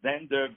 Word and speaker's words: Xander: by his first class performances so my dear Zender the last question because I know you have